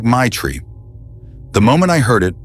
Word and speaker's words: Maitra: "Maitra," he said, pronounced like Maitri.